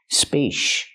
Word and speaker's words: spacious: Use the sh sound, like shoe and fish, sh sh spa-cious. Spacious. And then the closed relaxed sound, uh uh, like cup and up, us us. Together, spacious.